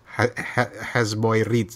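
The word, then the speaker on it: HZ Boy Reads: Namanya HZ Boy BOY Reads READS. Hasboy Reads bacanya gitu ya.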